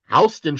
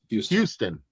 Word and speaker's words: Houston: Well, in New York, you have Houston Street, but down in Texas, you have Houston. Yeah. Spelt the exact same way.